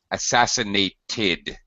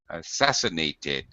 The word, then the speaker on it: assassinated: okay very good uh verbs that end with a t or a d we actually pronounced the past tense as ID assassinated assassinated ass assassinated 1963 uh